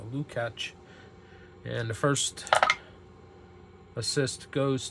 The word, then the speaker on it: Lukács: I have Slovak relatives, and usually the C is pronounced like a CH or a CK. So Lukács.